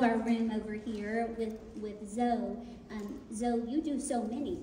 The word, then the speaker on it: Zoe: First, I want to clear up my name is Zoe, because my mommy calls me Zoe. The correct pronunciation is Zoe, which is Zoe's Wings Foundation.